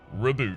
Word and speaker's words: reboot: And yes, I know that I bury the first syllable there. Reboot rather than reboot. Same thing I do with Malay.